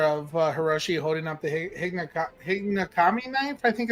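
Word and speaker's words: Higonokami: Obviously, I'm glad that you have the picture of Hiroshi holding up the Hinagami knife. I think it's how you pronounce it, Hinagami. It's HIGONKNAMI knife, and they're pretty cool knives.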